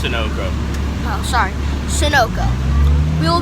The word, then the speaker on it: Sunoco: It's pronounced Sunoco.